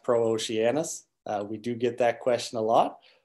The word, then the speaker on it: Pro-Oceanus: make us I should make clear it is pronounced pro Oceanus we do get that question a lot so